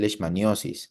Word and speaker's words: leishmaniasis: ni Asis ustedes pueden llamarlo también les manios ambas formas de pronunciar o de escribir son correctas de acuerdo Entonces ustedes van a encontrar en sus libros de parasitología lesmaniasis o les manios entonces